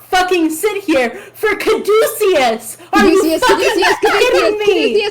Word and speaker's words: Caduceus: I went Caduceus. I was gonna Yes, say, I know. I think it's Caduceus because of the fucking character from Critical Role Exactly.